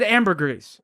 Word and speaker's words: ambergris: like i was so desperate to get this pronunciation right well she said ambergris yeah anyway so that's what it is and